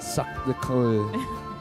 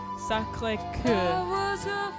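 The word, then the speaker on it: Sacré-Cœur: Sacre de Coeur. Sacré Coeur.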